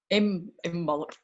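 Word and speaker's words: Imbolc: Imbal. Yeah. It's spelled with a C on the end, isn't it? But it's silent.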